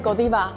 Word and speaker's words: Godiva: 我们的话都是念 Godiva，因为我们是比利时的品牌，所以我们是跟着比利时的发音念 Godiva。